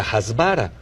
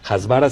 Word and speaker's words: hasbara: propaganda y la técnica hasbara jbara se escribe H S b grande a r no es una técnica